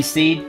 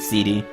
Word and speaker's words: SeeD: Oh, it's supposed to be seed? Again, I never knew, never heard. I always pronounced it CD.